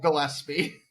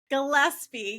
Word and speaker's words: Gillespie: It's Gillespie. Gillespie, yes.